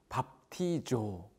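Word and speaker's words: βαπτίζω: 밥티조.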